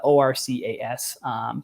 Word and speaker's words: Orcas: Spelled Orca, ORCAS, pronounced Orcas.